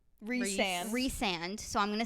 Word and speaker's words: Rhysand: Who is so from at this point you meet this guy named it's pronounced Rhysand.